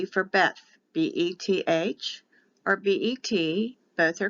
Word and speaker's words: Beth: for numbers the second letter is b for beth b-e-t-h or b-e-t both are correct for the pronunciation of the letter but the letter is